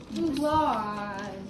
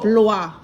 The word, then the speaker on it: Blois: Blois. How do you think we'd pronounce it? Louis. Yes. Blois.